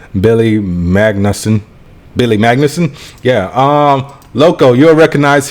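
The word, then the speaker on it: Magnussen: I can never I never know how to pronounce this guy's name Billy Magnus Billy Magnuson yeah um Loco you'll recognize him he was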